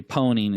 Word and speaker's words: pwning: And so it's become a joke in the industry that we pronounce it, or we say pwning instead of owning a system.